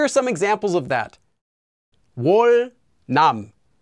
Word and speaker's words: 월남: Anytime it comes before or after the consonant 니은, that consonant 니은 will also become pronounced like a 릴. So here are some examples of that. 월남, 월남, 월남.